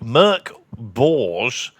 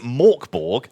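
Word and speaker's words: Mörk Borg: Morkborg is pronounced like Merc Borge. Okay, right. Suck my balls because the creator of it specifically said if you want to pronounce it Morkborg, which a lot of people in America or the UK do, that is completely fine.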